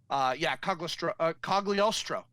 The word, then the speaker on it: Cogliostro: Cogliostro.